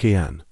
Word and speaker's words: Cian: Now for a boy's name that feels both ancient and modern, Cian, spelled Ciaran, and pronounced Cian.